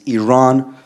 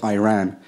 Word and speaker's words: Iran: the Iranian people but you're pronouncing our country's name wrong a country is named Iran not Iran please once and for all let's get this clear second of all um